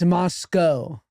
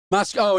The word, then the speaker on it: Moscow: It's Moscow. Moscow not Mos-cow. Understood. But it's spelled like Moscow.